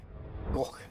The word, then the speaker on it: Gogh: Is it Van Gogh, really? Poor guy. I think he'd prefer to say, it's go. It's go. Don't call me Gog. Like your G sound.